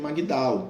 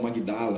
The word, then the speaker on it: Magdala: Como se dizia, e ela vivia na cidade de Magdala, né? Ou Magdala, né? Dependendo da nossa pronúncia.